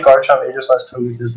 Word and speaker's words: Aegislash: How do you say it? It's Aegislash. Aegislash, sorry. It is Aegislash.